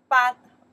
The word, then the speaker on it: 班: It's not 课 This one we pronounce the 班 The meaning is still class. 班班 still class.